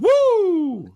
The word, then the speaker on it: Woo: tell you you mispronounced the starting pitcher it's pronounced woo so I had to do that my inner